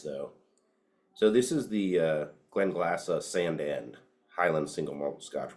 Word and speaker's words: Glenglassaugh: So we've got this Glenglassaugh. That's how you pronounce it. Glenglassaugh.